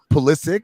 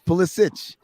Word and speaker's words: Pulisic: Like Pulisic, get out of here. It's Pulisic. We know how Soccer. those names are pronounced.